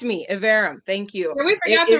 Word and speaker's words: Iverem: am please tell me you said were you pronouncing your name yeah evarum evarum thank you very much yes correct me evarum thank you we forgot to rehearse that it's